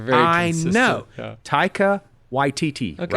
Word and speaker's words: Taika Waititi: When I listened back on it, I was like, why is there an extra syllable in there, Paul? Like, I know that guy's name is not Watatiti.